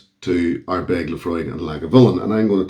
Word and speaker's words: Laphroaig: Laphroaig, let's face it, it's pronounced Laphroaig.